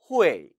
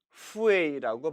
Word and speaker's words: 会: 이 발음을 후에이라고 발음할 수 있는데 이것은 틀린 발음임에 주의하세요. H는 순음이었죠? 이빨에 걸리는 소리가 들려선 안 됩니다. 이빨에 걸리면 F 발음이 돼버리죠. 따라서 후에이, 후에이로 발음함에 주의하시기 바랍니다.